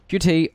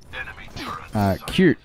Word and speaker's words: Qt: QT or Seth. Or CF is the way I pronounce it normally, but I've learned that it's Seth. In the same way it's cute.